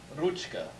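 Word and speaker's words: ручка: So here we have ruchka. The 4 is actually pronounced ch. It's a CH sound. CH, ch. Ruchka.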